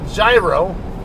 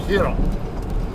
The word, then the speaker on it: gyro: that word looks like gyro to an American but Greeks and Spanish speakers uh alike usually pronounce that word hero or or so um